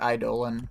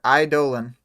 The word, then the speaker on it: Eidolon: Yeah, and like some people say it like Eidolon and stuff, but I usually say it Eidolon.